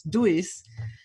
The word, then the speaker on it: Duis: established, because this is not the original Dutch, where it's from originally, not the Dutch pronunciation, but the German one, which is Duis.